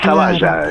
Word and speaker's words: Zavalla: Perdón, yo dije Zavala, tiene razón. No, Bueno. es que está bien. A veces en vasco, ¿cómo se llama? Como en italiano, la doble L a veces te la pronuncian como L. Claro. Pero es Zavalla, está castellanizado.